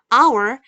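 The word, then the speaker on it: hour: 여기 물론 h가 있지만요 h는 우리가 발음을 안 하고요 얘 발음은 아워리어 뜻은 한 시간인데 여러분 h는요 발음이 안나요 여기서 근데 아까도 말했다시피어나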